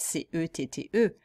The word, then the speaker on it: cet: Ça pourrait être C-E-T-T-E, mais c'est C-E-T parce que c'est un épisode et on ne dit pas ce épisode, on dit cet épisode.